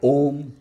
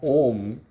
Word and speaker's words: Om: the less qualified seekers why om the syllables are ooh and ma that form ohm are the indicators of the self that is present in